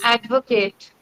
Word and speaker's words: advocate: Advocate. Yes. I want you to keep the vowels shorter. Advocate. Okay. Advocate and not Kate. We will not elongate the vowel sound.